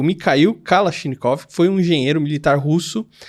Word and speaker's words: Mikhail Kalashnikov: O Mikhail Kalashnikov. Aí agora a pronúncia é certa.